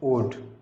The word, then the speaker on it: would: ठीक इसी प्रकार से इसको हम जैसे WOULD उल्ड, लेकिन इसको पढ़ेंगे हम वुड।